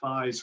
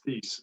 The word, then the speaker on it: Thies: That's a German origin name, and the trick is always pronounce the second vowel. Always pronounce the second vowel. So I have been called Thies more often than you'd want to know, and it's Thies.